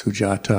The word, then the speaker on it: Sujata: no the sound so you have to pronounce it as an ant hill or sujata never as in they so it's sujata of course he won't